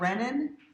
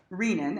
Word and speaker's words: renin: It's not renin because there is a hormone called renin that comes from the gut. I mispronounced it for years before somebody told me, you're saying the wrong one. So renin, as in renal, right?